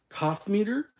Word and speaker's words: Coffmeter: C like cough c o ff meter cough meter is going to is